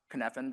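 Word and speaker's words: Cynefin: It's pronounced kfphan despite the way it's spelled and has four different parts of the model.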